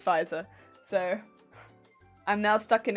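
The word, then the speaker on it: Pfizer: like pronouncing it well the first time i saw it i thought it was pronounced pizza pizza so i was going around pronouncing it pizza and then i found out that it was fizer so i'm now stuck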